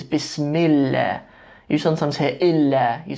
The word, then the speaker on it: Bismillah: In this case, it's Bismillah.